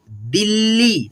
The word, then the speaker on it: दिल्ली: ल को यानी कि आधा जो ल है ना तो इसको हम लोग पढ़ेंगे थोड़ा जल्दी उच्चारण करेंगे, ठीक है, दिल्ली मिला करके करेंगे दिल्ली, ठीक है, ऐसे।